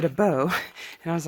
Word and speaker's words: Abó: and check everything out and yes I've been pronouncing it but it's as we were talking to the Rain he said a bow and I was like oh I've been saying